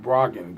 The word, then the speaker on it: Brogdon: Brogdon. That's how you say it.